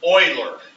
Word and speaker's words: Euler: this right now okay this gentleman's name was Euler is how that's pronounced oh not you boiler okay boilers mapped